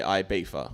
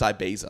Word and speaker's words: Ibiza: I can't stand it I don't like people calling it ibifa or ibifa it's Ibiza are you sure they're